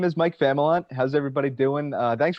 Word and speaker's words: Familant: what's up guys uh my name is mike famalant how's everybody doing uh thanks for having me